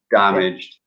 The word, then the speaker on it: damaged: of damaged as well the stress is on the first syllable damaged and also managed I hear a lot of students say the manged or man aged rich is not alright